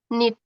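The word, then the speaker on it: knit: kalau ini menyulam bukan Bacanya apa ini Nit ya jadi k-nya enggak dibaca ya Nit artinya merajut merajut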